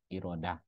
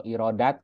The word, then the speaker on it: Irodah: ma'ani yang kedua yaitu irodah ya sifat iradah irodah atau iradat kita dibacanya biasanya kan irodat itu secara bahasa dari